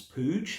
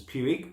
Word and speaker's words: Puig: I think they were bought out by the Spanish giants Puig, who I insist on trying to pronounce as Puig, but I'm reliably informed that it's actually Puig.